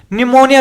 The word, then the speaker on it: pneumonia: देखो भाई निमोनिया देखो नाम निमोनिया या निमोनिया है और स्पेलिंग पी से स्टार्ट होती है भाई।